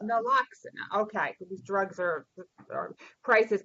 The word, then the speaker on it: Naloxone: Who can pronounce this for me? Naloxone. Naloxone. Naloxone.